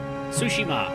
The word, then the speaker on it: Tsushima: us we are the Warriors of sushima oh sushima that's how you pronounce it doesn't B bode well for